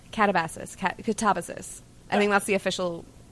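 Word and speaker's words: Katabasis: going to butcher it, Catabasis? Catabasis. I think that's the official... I've seen it, but I don't know how to say it. Yeah. I was originally calling it catabasis, but it's catabasis.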